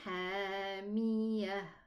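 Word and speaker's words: حَامِيَةٌ: And then hamiyah. Also, when I stop, it's going to be pronounced a ha. And then when I connect, I'm going to pronounce it a ta with a tanween above. Why do we have this meme?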